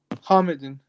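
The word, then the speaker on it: حامدٍ: Hamidin. You know your ha, it sounds like a kha. So it's Okay. ha, Hamidin. Hamidin.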